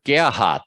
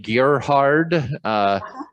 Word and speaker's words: Gerhard: on the German pronunciation, the R in Gerhard sounds like just a little twist of an A when it's at the end of a syllable.